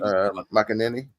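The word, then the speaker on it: McManaman: McAnany.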